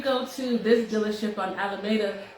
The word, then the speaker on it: Alameda: A lot of people be like, if you go to this dealership on Alameda, how do you say it? Alameda.